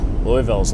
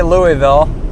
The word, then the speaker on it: Louisville: Yeah, I wonder what Louisville's like.